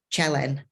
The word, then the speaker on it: Cielen: my name when he competes because nobody can pronounce his name so basically it's chellen helen oh you never would have guessed i